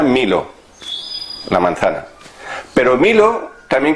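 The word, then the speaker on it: μήλο: Claro, la manzana en griego se llama milo. Se pronuncia milo, la manzana.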